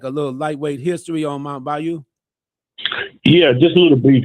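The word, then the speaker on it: Mound Bayou: Mount Bayou. Okay. I want to make sure I pronounce it properly.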